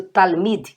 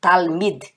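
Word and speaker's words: תלמיד: Olha como eu pronuncio Talmid, que quer dizer aluno, discípulo. Talmid. D. Porque termina com Dalet, com esse sonzinho de DH.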